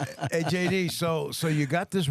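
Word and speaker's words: Jayde: Just And interesting, the star of the movie, his his name is J D. Oh, wow. His name is spelled J A Y D E.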